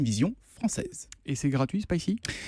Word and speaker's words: Spicee: C'est donc Spicy qui s'écrit S-P-I-C-2-E.